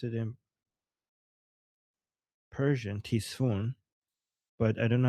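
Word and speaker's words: تیسفون: Ctesiphon in English or Tisfun in Persian.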